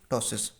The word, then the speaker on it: ptosis: तो उसको हम कहते हैं टॉसिस, PTOSIS। पी जो है हमारे पास साइलेंट होता है, इसको टॉसिस कहते हैं।